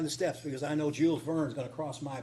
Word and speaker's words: Jules Verne: going to walk up and down the steps because I know Jules Vern is going to cross my path."